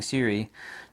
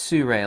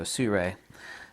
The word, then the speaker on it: Sirui: I'm always mispronouncing SIRUI tripods because I'm used to saying SIRUI, but it's SIRUI, like you're going to sue somebody, and a manta ray, so SIRUI.